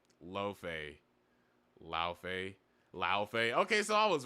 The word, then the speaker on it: Laufey: It's Laufey, right? Somebody in chat will tell me. Because I always get her, like, pronunciation wrong. Laufey. Laufey.